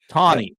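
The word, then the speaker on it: Taney: Tonnie Tonnie is I It took me a while to get that correct pronunciation.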